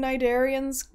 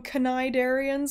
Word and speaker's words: cnidarians: of a foreign bacteria can I just give him props for pronouncing cnidarians correctly if I hear one more person call them canai darians I'm gonna do something